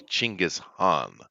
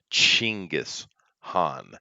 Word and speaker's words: Chinggis Khan: His name is actually Chinggis Khan. Chinggis Khan. It would be the way you pronounce it.